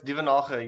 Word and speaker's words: Duvenage: No, it's Duvenage. You're correct. It's the Afrikaans, not the French pronunciation.